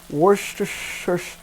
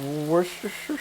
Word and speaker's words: Worcestershire: to put an ingredient that I can never pronounce. It's Worcestershire. You see most of the liquid from the vegetables have gone. Perfect time to put in 1 tablespoon of Worcestershire sauce.